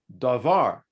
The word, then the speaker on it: davar: the word for thing are the same word davar can mean a word in english you would spell it d-a-v-a-r either way it's a word it's